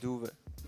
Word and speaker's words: Doeve: Am I saying it correctly, Doeve? Yeah, Yeah, nice. actually you do. Yeah, that's because I know the O and the E is sometimes very difficult for people from outside Yeah. Holland.